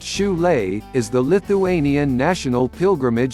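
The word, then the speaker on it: Šiauliai: the small industrial city of chole pronounced shulay is the lithuanian national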